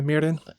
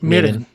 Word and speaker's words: mirin: you don't pronounce it real hard. No, it's like 'Cause a it's not combination of an mirin. R, L, D. Yeah, so it's like mirin.